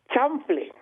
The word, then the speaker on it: chanfle: The word is chanfle. Chanfle. Yes. Chanfle. Let's spell that.